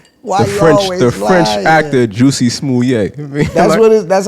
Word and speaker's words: Jussie Smollett: Queen's Quarters, your bugging award goes to Carly Russell for being the female Jussie Smollett. Why the French actor Juicy Smollett.